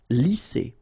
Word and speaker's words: lisser: Same thing here. Double S, S. Lisser.